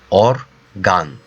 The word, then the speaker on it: organ: o-r-g a and so but you read like organ right but in Turkish it will be organ organ because that sound that letter is R so therefore I have to pronounce as aa so it will be or gun or gun okay you understand an